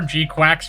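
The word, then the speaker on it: GQuuuuuuX: That is certainly a way to pronounce that, but with a ch with a title spelled GQ UX. How? What? How do I pronounce that? I prefer Gquax like we're talking about a duck.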